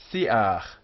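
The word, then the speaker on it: שִׂיחַ: Siach, shrub of, siach, one syllable, siach, because this here is a furtive patach.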